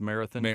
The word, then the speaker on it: Marathon: It's pronounced Marathon Marathon Songwriters Festival uh which is August 7th to the 9th this year.